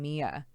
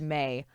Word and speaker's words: May: God, I don't know why I always pronounce her name Mia. It's the weirdest thing. I've heard her name pronounced May a million fucking times.